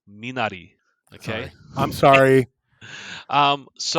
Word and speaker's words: Minari: i think about it it actually pronounced exactly the same as it in japanese um i don't know